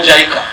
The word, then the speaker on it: JICA: things you have supported us, especially through the JICA or JICA. That's how we pronounce.